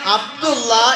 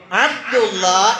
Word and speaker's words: അബ്ദുള്ളാ: അറബിയിൽ എഴുതുമ്പോൾ എങ്ങനെ എഴുതുള്ളൂ അബ്ദുളളാ എന്നാണ് എഴുതുക അപ്പോ നമ്മൾ പറയുമ്പോൾ എങ്ങനെയാണ് പറയേണ്ടത് മലയാളത്തിൽ അബ്ദുള്ള എന്നല്ല നമ്മൾ പറയേണ്ടത് നാമങ്ങൾ നമ്മൾ പറയുമ്പോൾ അറബിയുടെ അക്ഷ അക്ഷരങ്ങൾ ഉച്ചാരണങ്ങൾ വെച്ചുകൊണ്ടാണ് നമ്മൾ പറയേണ്ടത് അബ്ദുള്ളാ അതുപോലെതന്നെ അബ്ദു റഹ്മാൻ ഇമാം